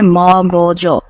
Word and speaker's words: মগজ: অল্প উপকরণে ভালো ব্যবস্থা মগজ শব্দের উচ্চারণ হচ্ছে মগজ ম তারপরে গো মানে গ ওকার তারপর হচ্ছে বরিয়জ হসন্ত মগজ মগজ এটা হচ্ছে উচ্চারণের সঠিক বানান শব্দ সচিবালয় পারিভাষিক শব্দ